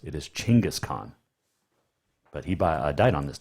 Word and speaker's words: Genghis Khan: We know him better as Genghis Khan. And yes, it is pronounced Chinggis, not Genghis. It is Chinggis Khan.